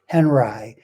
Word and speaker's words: Henri: for this whole thing robert henry that's how he wanted his name pronounced henri this is his photograph